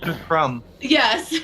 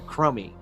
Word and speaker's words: Crumby: Crumb. Yes, yes. We have a drink called the Crummy, which is spelled CRUMBY properly, and people will constantly call it the Crumby.